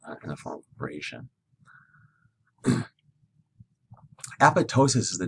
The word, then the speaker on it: apoptosis: from the body so apo is the prefix ptosis the silent p is the root word so apoptosis program cell death here's